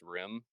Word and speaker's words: Riam: See, his username is pronounced Rim, but I've always said it Riem, and then it just caught on, and I think even he says it Riem now, or I think even like Tax says it Riem.